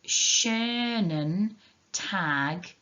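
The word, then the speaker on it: schönen Tag: what we say it's shernan tag so if you're in school last week and you were there for the pronunciation if you see we've got the sch sound making a sh sound then we've got the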